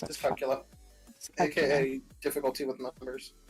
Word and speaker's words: dyscalculia: Because I have dyslexia and potentially dyscalculia? Dyscalculia? I can't remember how to pronounce it. Dyscalculia.